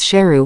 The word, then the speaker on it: Sheru: Saru also just found out that he had been mispronouncing his name all this time. His real name is Sheru, which means lion.